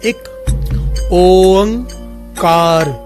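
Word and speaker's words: ੴ ਇੱਕ ਓਅੰਕਾਰ: धन गुरु नानक एक ओंकार, एक ओंकार, इसकी प्रोनाउंसिएशन अच्छे से समझ लीजिए। बहुत सारे लोग एक ओंकार बोलते हैं, बहुत सारे लोग अलग अलग तरह से बोलते हैं। असल में इसकी प्रोनाउंसिएशन इस प्रकार से है, एक ओंकार।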